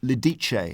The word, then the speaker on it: Lidice: massacre there'd been in 1942 in Czechoslovakia in Lidice. Is that how you pronounce it?